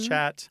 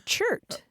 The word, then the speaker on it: chert: organic matter on the ground, or sometimes called chat. Or chert. Or chert, C-H-E-R-T. Or chit.